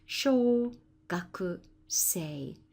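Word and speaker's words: 小学生: In other words, a primary student, and it's pronounced sho. Then this has its full pronunciation, gaku, and then we know already this is pronounced sei. Sho, gaku, sei, as opposed to sho, ga, ko.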